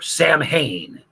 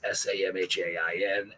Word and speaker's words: Samhain: And I guess Billy had written a song at some point where the refrain in it was him saying Sam Hain over and over again.